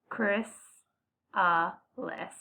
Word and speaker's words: chrysalis: stage one egg stage two caterpillar stage three chrysalis and this just tells you how to say it as I say Chris less stage for butterfly and this is a monarch